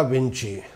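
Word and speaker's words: Vinci: Leonardo da विंची, CI का उच्चारण Italian भाषा में ची होता है।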